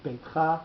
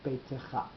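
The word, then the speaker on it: בֵּיתְךָ: So it's beitcha, not beitecha.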